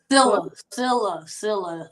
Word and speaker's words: Sillia: Sillia. The last I is silent, so it's pronounced Sillia.